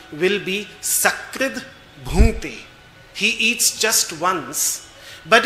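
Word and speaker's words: सकृत्: But if you mispronounce it and you will say, instead of sakrid bhunte, you will say shakrid bhunte, it means he eats excrement. Because sakrit means once and shakrit means human excrement.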